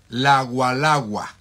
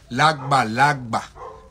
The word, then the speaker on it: lagba: Y en realidad no es lagualagua, es lagba, porque está escrito y tiene una pronunciación con la G y la B.